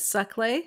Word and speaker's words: Saclay: So you said your university, and I might be mispronouncing it, Saclay.